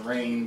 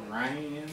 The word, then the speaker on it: Rhein: right back but lisa i call her lisa rayne but it's ryan i don't know it